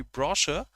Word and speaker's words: brochure: So that is going to be brochure. That we do not pronounce brochure, we say browser, brochure, whatever.